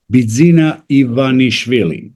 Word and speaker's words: Bidzina Ivanishvili: Bidzina Ivanishvili.